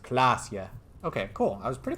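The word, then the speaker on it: Klaasje: Klasia is pronounced Klasia.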